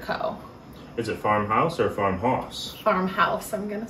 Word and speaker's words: Farmhaus: is it Farmhouse or Farmhouse Farmhouse I'm gonna say it is spelled h-a-u-s I still think it's pronounced house I think it's awesome